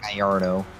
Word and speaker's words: Gallardo: be pronounced Gallardo.